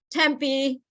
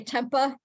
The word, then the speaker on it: Tempe: names in Arizona uh Tempe they say temper people that you know come down to visit Tempah and then and then